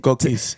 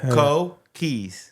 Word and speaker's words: Cokeys: uh my name is kis or yeah that's that's I go by kis how do you spell that cuz c o k Ys sure like Co Keys Co keys and how' that how'